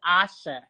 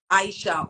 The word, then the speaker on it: Aisha: those little even me, my name is tricky because it has an I Spelled in it. It's actually pronounced Asha. Asha. Oh, Asha. That So people would often say Aisha or Aisha. So I mean, I know it's phonetically it's correct, right? But if you don't know, for some reason my parents kept that I silent.